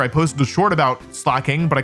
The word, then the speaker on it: Slaking: antagonize the comments, so I started calling it Slaking. But personally, I still think Slay-king is better; in my heart, it's going to be Slay-king.